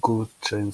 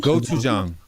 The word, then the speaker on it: gochujang: I love this thing called goat chain, something like that.